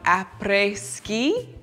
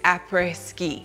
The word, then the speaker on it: après-ski: There's also this whole concept that I learned about called après-ski. It's a French term, and I'm probably pronouncing it horribly, but it's A-P-R-E-S, ski.